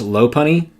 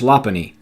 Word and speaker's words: Lopunny: I initially pronounced this Lopunny, but it is truthfully pronounced Lopunny.